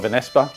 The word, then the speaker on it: Vanesspa: I call it Vanesspa. Because it rhymes with Vanessa.